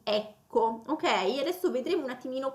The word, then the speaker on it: ecco: proprio a ecco e poi l'accento cadrà sulla e iniziale di ecco, ok?